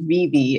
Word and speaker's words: Vevay: I grew up in a really small town called Vevey. It's spelled like Vevey, Switzerland, Vevay.